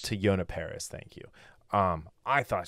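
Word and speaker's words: Teyonah Parris: to some how do you say her name to yonah paris to yonah paris thank you um i thought she was she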